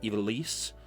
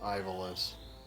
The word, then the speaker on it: Ivalice: I also pronounced it Ivalice. So it is, bleh. It's supposed to be pronounced like you're French.